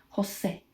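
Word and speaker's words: José: So let's say we have Jose. You would say Jose.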